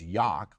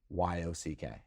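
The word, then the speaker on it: Jauch: And it's, as we always say, it's Yock, like rock with Yeah. a Y, Right. right? And so her license plate said, it's I-T-S, Y-O-C-K.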